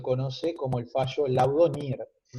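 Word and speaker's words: Neer: un hito muy importante que es el laudo NIR, que se escribe N-E-E-R, NIR, que estableció una norma consuetudinaria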